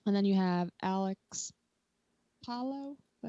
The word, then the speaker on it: Palou: And then you have Alex Palou that how you say it? Palau.